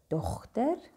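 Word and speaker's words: dogter: The first kind is dochter, daughter. Notice how we do pronounce the G there, the Germanic G.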